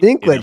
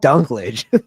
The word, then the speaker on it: Dinklage: I wanted Peter Dinklage in a Dinklage, not Dunklage. It's Pe- Peter Dunklage. Peter Dinklage.